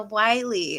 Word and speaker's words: Willey: hart and today i'm sitting down with anna wiley is that right zahu pronounced your name yes yes awesome it's always